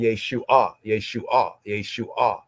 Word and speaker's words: Yeshua: So instead of saying Yeshua, it's properly pronounced, full tone pronounced Yeshua.